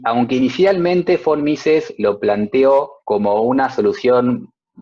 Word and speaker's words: von Mises: El señor von Mises es alemán y las B cortas en Alemania las pronuncian como Fs, porque son personas extrañas.